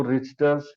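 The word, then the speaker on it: Richter: बोलते हैं तो उसको रिचर्स या रिचर्स हर्निया बोलते हैं ठीक है क्योंकि टी साइलेंट होता है रिचर्स हर्निया ही बोलते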